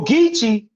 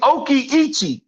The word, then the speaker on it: Ogeechee: See, a nigga will tell you, well, Ogeechee, it's Oki-Ichi. It's a Hichiti word. Not understanding the Ichisi or the Mayans, they mispronounced the fucking word.